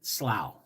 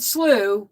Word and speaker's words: slough: I pronounce it slough because that's just the way I was raised. So if you pronounce it slew, we're both pronouncing it correctly for our geographic regions.